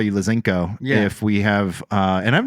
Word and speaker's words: Lazenko: So what is it's Lazenko. Zen, not Zank. Yeah. Like it's like. A lot of people say Zank because it just rolls off the does. tongue. Lazenko.